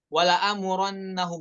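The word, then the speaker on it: وَلَآمُرَنَّهُمْ: Nah, hamzahnya hati-hati, jangan dibaca pendek. Wala amurannahum, tapi wala amurannahum ya, semuanya dengan kadar 2 harokat.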